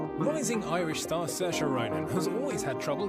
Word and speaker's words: Saoirse: Rising Irish star Saoirse Ronan has always had trouble getting people to pronounce her name correctly, until she hit on telling them that it rhymes with inertia.